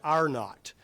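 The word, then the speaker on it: R0: It's called the uh if you look at that that symbol of of R uh lowercase T uh you pronounce that epidemiologists call that AR not and that shows the average number of people who become infected by an infectious person.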